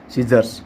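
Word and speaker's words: scissors: ठीक वैसे ही अपन कह सकते हैं जैसे कि सीजर्स है ना, सीजर्स मतलब कह सकते हैं कैंची, हालांकि इसका सही उच्चारण है सीजर्स है ना, लास्ट में जे आता है, सीजर्स मतलब कि कैंची।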